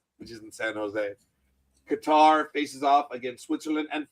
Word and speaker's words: Qatar: And folks, again, it's Qatar. You see it, Qatar. Qatar. It's not Qatar. It is Qatar. Speak English, you dumb bastards. And when you ask someone from Qatar how it's pronounced, they tell you it's Qatar, not Qatar.